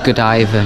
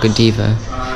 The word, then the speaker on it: Godiva: about and I've realized I've been saying it wrong it's Lady Godiva not Godiva it's just me me